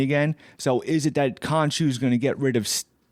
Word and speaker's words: Khonshu: Mark, and then was it how do you pronounce it? Khonshu, yeah.